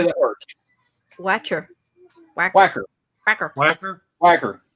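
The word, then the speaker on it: Wacher: you say that word Wacker whacker whacker whacker whacker whacker and it was pronounced whacker they W they named that child Richard Richard wacker Nick whacker oh God I remember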